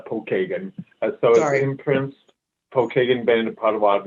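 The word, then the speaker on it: Pokagon: you yeah it's uh actually we pronounce that uh paul kagan so i imprints pokemon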